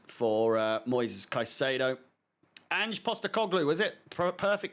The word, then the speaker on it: Postecoglou: Ange Postecoglou, was it? Perfect pronunciation.